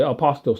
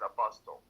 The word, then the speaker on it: apostille: I could have got Apostille. It really is the word. Yeah, but that's how they say it. Okay. You know, I apostille. can't correct it. I mean, I know that. Yeah. Yeah. Apostille, but it's true. Everybody in America says apostle.